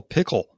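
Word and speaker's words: Pkl: just for the transcript how do you spell pickle oh it's PK yeah not like the food that you eat but pronounce that way I actually read it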